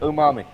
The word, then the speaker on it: umami: Umami.